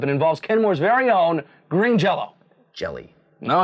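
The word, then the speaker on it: Green Jellÿ: to a Y, and put 2 dots over the Y, which is pronounced O, of course.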